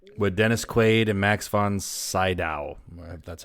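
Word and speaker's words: von Sydow: my dreams Dreamscape with Dennis Quaid and Max von saow that's how you say it never watched that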